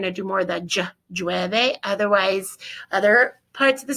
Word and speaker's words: llueve: Okay, so llueve. You're not going to, some people pronounce it llueve. Some people will say llueve, more of a J sound.